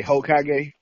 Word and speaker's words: Hokage: They say Hokage.